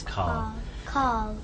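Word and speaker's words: Karl: It seems like without an R. Yeah. I think it's my accent rather than. I think you said it right and I said it.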